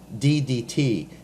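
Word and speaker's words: d/dt: the heaviside operator, dt, ddt. And that's what this is pronounced as. This is pronounced d dt.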